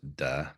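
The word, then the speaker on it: 德: It's still pronounced da, but it's just a prior way of transliterating from Chinese into English.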